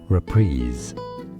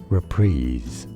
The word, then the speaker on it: reprise: an e sound repeats there's a stress on that second syllable and a z sound at the end reprise reprise is how you say